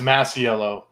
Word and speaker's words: Masiello: industry yeah so uh the the last name's massiello like um so the way i got into